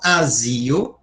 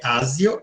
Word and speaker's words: Azio: Ancal asio, não é Ásio.